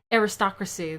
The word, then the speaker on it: aristocracy: I read it, like the word the aristocrat word, but with the like Y ending, aristocracy, aristocracy, that's how you say it.